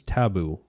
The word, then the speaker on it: TA13OO: a really cool record so this is taboo uh by Denzel Curry it's yes and it's it's spelled different he has the cool